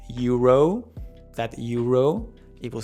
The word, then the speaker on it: euro: I know that in English those vowels often slide, but in Spanish the vowels are so important for any word. It's the key, actually. And in Spanish, all the vowels are going to have the same sound and pronunciation no matter where they are.